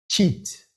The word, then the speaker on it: Çit: Cheat.